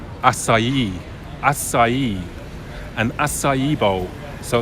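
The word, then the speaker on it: açaí: I believe it's pronounced acai.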